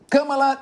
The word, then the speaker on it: Kamala: Agora, Luiz Augusto Durso, para não errar a pronúncia, fala é mala. Pronto, Kamala.